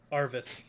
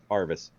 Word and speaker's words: Yarvis: Arvis. Arvis. Yeah, this was The Y is silent.